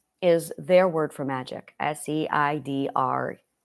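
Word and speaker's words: Seiðr: their word for magic, S-E-I-D-R. Seid. The R is silent. And, well, depending upon which region of Norway, 3 of the 4 of them say it's silent. Only one of them pronounces the R. And then the other 3 mocks them for pronouncing the R. So I don't pronounce the R because I went with the majority.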